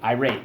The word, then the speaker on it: irate: Irate, let's go. Irate, irate. First syllable, I. Second syllable, rate.